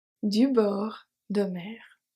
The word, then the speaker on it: bord: Du bord de mer. The only silent letter here is the D at bord.